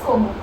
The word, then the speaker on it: comment: For example, comment? No, that's not comment. That's como.